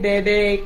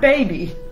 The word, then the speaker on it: bebe: Not baby. Bebe.